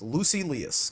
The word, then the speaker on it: Lucilius: So it is just Lucilius.